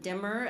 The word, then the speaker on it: Dymer: Lewis's early poem, Dymer, or Dymmer, as the British say, explaining why he considers this poem both sweet and salutary.